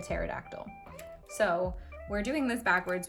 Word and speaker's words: pterodactyl: And when we do that backwards, it's SADME with a silent P, like a pterodactyl.